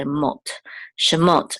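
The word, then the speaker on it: שְׁמוֹת: so together so say m shot and this is the accent or Trope Mark here the so we know that the accent of the words on the last syllable shot these These are the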